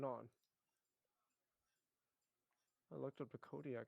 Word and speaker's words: Kodiak: How do you spell it? No, it's a Kodiak.